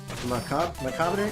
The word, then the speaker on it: macabre: Macabre? Oh, macabre. No one shoots ropes at the king. It says shoots ropes. Oh, shoot. There we go. So, the Bray is silent? Macabre? Macabre.